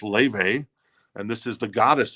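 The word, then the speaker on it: Laufey: modern day artist that is Le some might pronounce it lafy lafy but it's pronounced Le and this is the goddess Edition it's like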